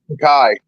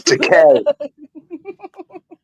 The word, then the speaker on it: Takei: He pronounces it Takei. Right, yeah. It's Takei.